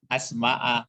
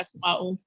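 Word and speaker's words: الْأَسْمَاءَ: betulnya asma'a, karena dia kan mengulang ini. Iya. Jangan dibaca asma'u.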